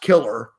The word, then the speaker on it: Killar: It's like pronounced killer, but his name is Killar is how you spell it, Kilar, and his name's Bob Killar.